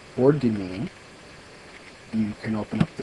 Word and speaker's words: demesne: The word we're going to use is demesnes.